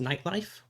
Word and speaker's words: Nyte Lyfe: It's spelled N Y T L Y F E. It is pronounced nightlife.